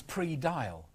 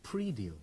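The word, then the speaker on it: praedial: I thought this was pre-dial. You know, like dial it first. But it isn't. It's pre-deal, isn't it?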